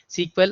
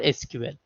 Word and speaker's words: SQL: SQL, or you can say SQL, you can pronounce like SQL or SQL, right?